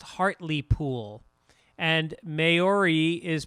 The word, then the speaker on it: Hartlepool: Hartlepool is pronounced Hartley Pool.